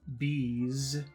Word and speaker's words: bees: And number two, bees, is the sound of a bee. It's the sound of an insect. Zzz. Bees.